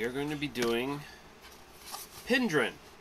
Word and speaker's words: Penderyn: going to be doing pin dhryn I know it says pin Darren if you just sort of look at it and spell it out but I guess it's pronounced pin dhryn it is the one